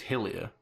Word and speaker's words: Hylia: Okay. It's Hylia. Hylia? Yeah, it's pronounced Hylia. Okay. Like, yeah, because they're Hylian.